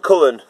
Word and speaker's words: Cullen: a gentleman called Countee Cullen. And I love his surname because it rhymes with Bullen, but that's a completely different thing.